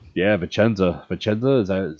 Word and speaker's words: Vicenza: Vicenza is that how you say it? Yes, Vicenza, yes.